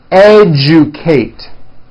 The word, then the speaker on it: educate: rejoice objective Majesty educate that has also an unusual pronunciation let me break it down for you Kate educate next one suggestion this one's